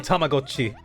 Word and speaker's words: Tamagotchi: 個性豊かなたまごっちたちが暮らす Yeah, he is saying Tamagotchi. お店屋さんを始めてみませんか？ Fuck. たまごっちの It is Tamagotchi.